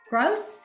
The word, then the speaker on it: Gross: David Gross. Did I say it right? Gross. Okay. Yes, ma'am.